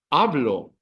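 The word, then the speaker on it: hablo: in a vow so the emphasis is ablo ablo second last syllable let's do it again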